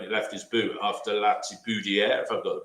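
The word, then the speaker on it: Latibeaudière: it was always going in, wasn't it, from the moment he left his boot after Latiboudier, if I've got the pronunciation right. Latiboudier, yeah.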